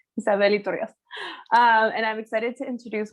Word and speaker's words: Isabel Rios: And today I pronounced it in Spanish, Isabel Rios.